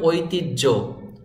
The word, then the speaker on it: ঐতিহ্য: হটি জ ফলা আছে এখানে এই হ বর্ণটি উচ্চারণ হবে না এরকম আরো অনেক শব্দ